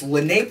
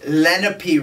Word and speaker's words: Lenape: my attention we've been pronouncing the name of the natural gas drilling company as Lenape resources instead of lenpy resources I'm so thankful that